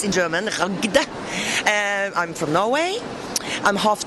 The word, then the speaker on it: Ragde: Ragde is very difficult to pronounce in German. Ragde.